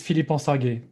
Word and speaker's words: Philippe: least hears it one time my name is philippe i think i did a good job then man i'm proud of myself joining philly midnight thank you joining philippe and i is steve george steve is the